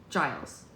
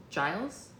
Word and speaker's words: Giles: so it is GES Giles Giles Giles with a J that's so weird ooh